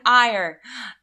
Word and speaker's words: Eyre: we are currently reading jane eyre jane ire actually it's jane eyre everyone else was wrong that told me that i was pronouncing it wrong because on twitter one